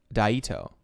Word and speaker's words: Daito: right dato says it's pronounced dato with a long I daito daito daito I or